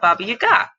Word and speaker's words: Baba Yaga: going to talk about Baba Yaga instead. And yes, that's the Russian pronunciation as far as I can personally produce it with my measly 3 semesters of Russian.